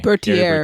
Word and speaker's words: Bertier: Like he made examples of I can't ever pronounce his name. Gary Bertier. Bertier.